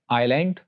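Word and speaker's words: island: Like आइलैंड, आयल और islet. Islet means small आइलैंड, छोटा जजीरा। तो यहां पर ऐसे केसेस में अगर एस एल से पहले आ जाए तो उसको साइलेंट रखा जाता है, ऑल्दो इसकी काफी एक्सेप्शंस भी मौजूद हैं।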